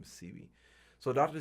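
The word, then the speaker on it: Sebi: C be calm study but the real way to pronounce his name is C V so dr.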